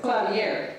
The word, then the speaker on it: clavier: Clavier. Thank you. The word clavier is a general term that designates any stringed keyboard instrument. In this course, the focus will be placed on Bach's works for clavier, which are pieces that pianists of our time